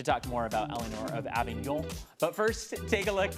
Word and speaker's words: Avignon: Eleanore of Avignon is on, so say it correctly. Eleanore of Avignon. So you got to get the very end of it proper. Yeah, you got to get up in your nose.